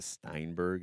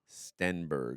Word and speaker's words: Stenberg: I said Amanda Steinberg. It's Amanda Stenberg.